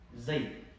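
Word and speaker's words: زيد: Kemudian setelah daraba ada kata yang terdiri dari huruf za, ya, dan dal. Ya, kalau kita lihat dari 3 huruf ini yang dirangkai menjadi sebuah kata, maka bacanya adalah Zaid, nama orang Zaid.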